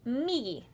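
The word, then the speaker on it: みぎ: And to the right is migi. Migi. M-I-J-I. Did I say it right? Yeah, and well, it's M-I-G-I. So, migi. Migi.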